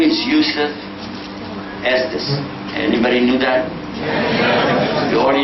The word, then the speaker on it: Estes: No, my name in Arabic is. Yeah. It was changed 600 years ago when my grandfathers left Spain. They pronounced it. But then over the years, when they became Christians, they began pronouncing it as Estaz, and then it became Estes, and this is still too loud for broadcasting.